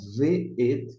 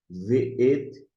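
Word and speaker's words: וְאֵת: Como eu não passei em um vídeo, mas aqui vai ter uma, uma tradução, você vai pronunciar V-et, né? V-et, e você vai traduzir como uma conjunção E.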